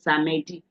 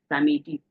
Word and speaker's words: samedi: used to hear is samedi. Samedi. No, the E here is what the silent E. So the white man will pronounce it as what?